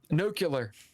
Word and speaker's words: nuclear: takes is one person nucular Apparently that is actually a pronunciation which I I wonder